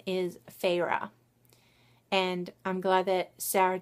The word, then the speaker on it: Feyre: Court of Thorns and Roses follows a 19-year-old huntress, and her name is Feyre. And I'm glad that Sarah J. Maas thought to put a pronunciation guide in the back of this first